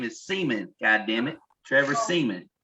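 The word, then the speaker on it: Siemian: It's Simeon. They're missing two only white people pronounce it Simeon. Us brothers pronounce it Seaman.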